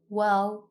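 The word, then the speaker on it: واو: Like alif, Arabic has three long vowels: alif, waw, and ya. Waw is pronounced like the double O in the English word boot, boot. Ooh. Round your mouth and extend your lips as much as you can.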